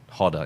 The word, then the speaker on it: roda: have a hotter so Roda they pronounce it harder in Brazil and you basically like